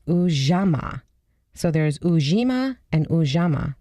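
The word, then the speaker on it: Ujamaa: The fourth is cooperative economics, and it's ujama.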